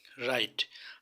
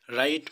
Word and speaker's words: write: এখানে এক্সাম্পল দেখতে পাচ্ছেন রাইট, WRITE, রাইট মানে হচ্ছে লেখা। তো এখানে রাইটের ক্ষেত্রে ডব্লু কোনো উচ্চারণ হলো না, ডব্লু উজ্জ্ব থাকবে।